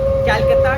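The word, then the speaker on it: Calcutta: हो रही है वो कोलकाता का स्टेट गवर्नमेंट ऑपरेट कर रही है कोलकाता नहीं पहले पहले य कोलकाता को कोलकाता नहीं कलकाता कहा जाता था जिसको सी से प्रोनाउंस किया जाता है फिर आया वो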